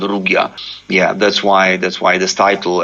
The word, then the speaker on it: Rugia: So the new album is called Rugia. Have I said it correctly? Rugia? Actually, I pronounce it Rugia.